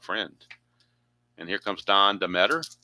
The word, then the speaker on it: Deatter: And here comes Don Deatter. That's what I was told is pronounced as the better.